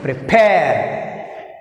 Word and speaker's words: prepare: Prepare. Prepare. Prepare. Prepare. Prepare. Second syllable is pair. First syllable pre.